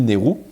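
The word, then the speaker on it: NAIRU: Ça s'écrit N-A-I-R-U, mais ça se dit NERU.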